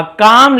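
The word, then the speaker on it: calm: अ काम lake mirror the scenery काम lake. काम एल को नहीं पढ़ना है जिसे हम बोलते हैं एक शांत झील उस दृश्य की प्रतिबिंब थी।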